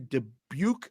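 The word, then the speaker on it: Dubuque: oa's in a 563 debuk Iowa is that how you say that Deb right yep okay debuk Iowa Corey McBeth 402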